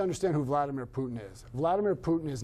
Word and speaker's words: Vladimir Putin: We're talking Vladimir Putin, as it's properly pronounced.